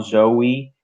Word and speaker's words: Zowe: as well it's pronounced it as as I'm pronouncing right now Zoe is not an acronym in because usually at